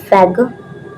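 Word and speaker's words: sphygmomanometer: हम लोग करते हैं एस ना इसमें साइलेंट होता है, फैग्नोमैनोमीटर। बहुत बड़ा नेम है ना, बट इसे आपको पता होना चाहिए। एस फैग्मोमैनोमीटर, एस साइलेंट होगा, फैग्मोमैनोमीटर। ये एक इंस्ट्रूमेंट है जिससे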